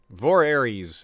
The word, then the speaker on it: Voorhees: voorhees this is voorhees voorhees velaryon vor aries it's kind of it's kind of around a rhymes with aries right that's right here we